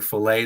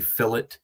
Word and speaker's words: filet: certain French words like instead of saying filet they'll say fillet instead of saying um valet they'll say valot like certain things but